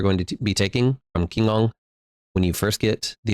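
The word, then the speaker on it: Qinggong: A Kingong Monk, one Kingong is supposedly how you say it because I was corrected a lot.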